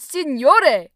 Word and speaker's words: signore: You always mistake the word signore. Oh, that's another interesting syllable. GN is pronounced with a unique sound, similar to the ni sound in words like onion.